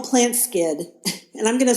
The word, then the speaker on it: Plantskydd: Plant Skid is spelled PLANTSKYDD, and I had never